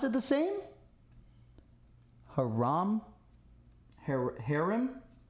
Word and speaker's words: Haram: It's pronounced the same. Haram. Haram. Also kind of softer. So like, haram. Haram! Haram. Haram! Haram. Don't elongate.